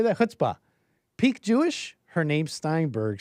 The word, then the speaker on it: chutzpah: Chutzpah.